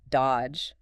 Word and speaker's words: dodge: The classic example given is the word dodge. D O D G E. Right. You don't say that middle D at all.